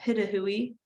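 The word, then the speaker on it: Pitohui: It's called Hooded Pitahui is how you pronounce that, Pitahui.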